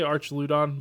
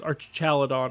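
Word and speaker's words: Archaludon: L I don't remember I always say it wrong I say Arch Lon but I know it's Arch caladon right that's how you say it archelon or something like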